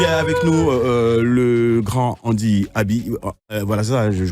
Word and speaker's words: Andy Aby: Allez, voilà, il est avec nous, le grand Andy Abi. Voilà, ça, je prononce bien.